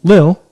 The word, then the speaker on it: Lille: the pro tour and lil is how you say it you were there i believe so lil perfect awesome uh lil